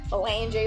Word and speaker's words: Melange: I think it's Melange or Melange, or, you know, I just think Melange rhymes with Solange, you know, like, don't touch my hair.